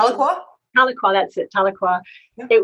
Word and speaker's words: Tahlequah: Is that the right pronunciation? Tahlequah? Tahlequah, that's it, Tahlequah.